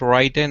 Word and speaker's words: written: Just like with mountain, the T is almost silent.